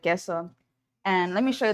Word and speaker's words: KSO: His name is Keso, and it's KSO. It's spelled KSO, but he pronounces it Keso.